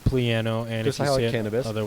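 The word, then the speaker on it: Plano: out of the way it is pronounced pleano and just highlight cannabis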